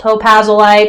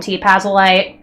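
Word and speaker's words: t+pazolite: Some people call it Topazolite, some people call him T-Pazolite.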